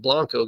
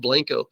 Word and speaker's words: Blanco: but it looks like Blanco guys Texas we've got we speak our own brand brand of Spanish down here so it's pronounced Blanco um but that Town